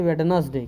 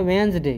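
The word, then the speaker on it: Wednesday: इसको लो पड़ते हैं वेडनेसडे क्या पढ़ते हैं वेडनेसडे जो कि सरासर गलत है यह होना नहीं चाहिए इसको पढ़ा जाता है वेनसडे क्या पढ़ा जाता है वेनसडे क्योंकि साइलेंट हो जाता है तो सीधे डेब्यु इन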